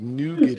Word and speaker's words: nougat: No, it's nougat. It's nougat.